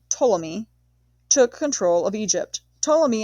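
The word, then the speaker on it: Ptolemy: His empire was divided between three generals one called Poleamy pronounced Tommy took control of Egypt.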